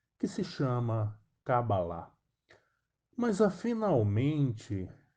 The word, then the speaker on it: Cabalá: se dizem avalistas porque a pronúncia de fato correto é kabbalah não há como algumas